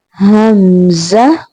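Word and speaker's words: همزة: previous one ha, and it's pronounced from the deepest part of your throat. Now you have to practice after me. Hamza, Hamza, Hamza.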